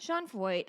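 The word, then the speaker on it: Sean Feucht: Sean Foyt. Okay. Rhymes with exploit.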